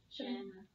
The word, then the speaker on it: scena: Okay, and then for SC, so how do you say that? Scena. Scena. So it becomes a sh sound.